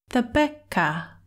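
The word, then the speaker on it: သဘက်: For this word, you need to trust your ears more than your eyes. That first syllable looks like it should be than, doesn't it? But when said in this word, it just sounds like the Becca.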